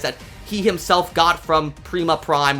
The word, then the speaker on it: Prima Prime: he himself got from Prima Prime or Primus Prime however you want to pronounce it. They Liege pronounced it Prima in this show so I'm I'm going to call him Prima Prime.